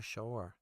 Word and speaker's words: Shaor: We still have Munir Shaor. That's how you say it.